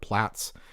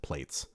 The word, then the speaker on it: Plaits: So anyway, this is a plates or for those of you in Europe, plats.